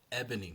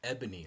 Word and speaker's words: Ebony: I'm sorry, Ebony Edison, Ebony. My apologies, Ebony. I've been saying her name wrong. Ebony.